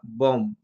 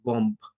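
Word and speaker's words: bomb: যেমনটা বম, BOM, বি এর উচ্চারণ আমরা বলিনি, আমরা একবারও বলিনি বম্ব, বি আসে না, আমরা বলি বম।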